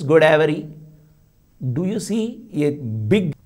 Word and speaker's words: Godavari: Even Godavari, which is a Telugu word, how do they pronounce? It is Godavari.